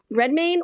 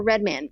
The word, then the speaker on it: Redmayne: in it um eddie i can never pronounce his last name is it red red main or red man how does red mean i think you're right red mean red redmayne yep okay um it has john